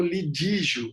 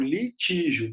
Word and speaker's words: litígio: Nós temos a palavra lide, mas a briga, né, entre as pessoas não é o lidígio, é o litígio, com T.